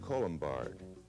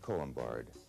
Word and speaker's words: Colombard: Here we have the French Colombard, French Colombard.